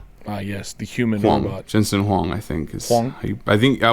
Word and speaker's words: Jensen Huang: huang's how did you pronounce his name you pronounced it correctly uh yes the human walmart jensen huang i think i think i would trust you